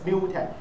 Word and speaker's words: mutex: Okay, oh, this is pronounced as mutex, M-U-T-E-X mutex.